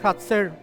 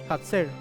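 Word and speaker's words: חָצֵר: Que es hatzer. La palabra hatzer es para atrio, pero también se utiliza para decir apretar o oprimir. La misma palabra, hatzer, se pronuncia de esa forma, significa atrio.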